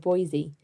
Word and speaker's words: Boise: last episode for example i said boys instead of boise and i really appreciate